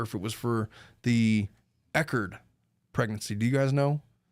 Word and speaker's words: Echard: so much for the $1.99 he says it's pronounced eard what have I been saying chardard hey what